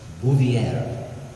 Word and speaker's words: Bouvier: his future wife now I had to ask not a mulligan how to pronounce her last name her first name was Jacqueline and her last name is French bouviera Jacqueline Lee moviere so